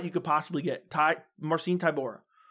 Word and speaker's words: Marcin Tybura: could possibly get Tai marcine Tor or Marine Tor I think is actually how you pronounce it and you got